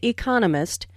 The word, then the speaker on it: economist: Smith is an economist notice the stress on economist this content word has new information so it is emphasized there are four syllables in Economist with the stress on the second syllable economist he just finished